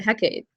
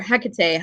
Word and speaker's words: Hecate: ton of notes about a heck aid or Hecate however you prefer to pronounce it as the part of